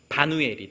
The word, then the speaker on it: 바누엘: 야곱이 하나님과 씨름하며 천사와 씨름하며 내가 하나님의 얼굴을 보았다라고 이름했던 브니엘이 헬라식 이 신약 시대의 발음으로 바누엘이 되는. 아버지의 이름은 바누엘이고요.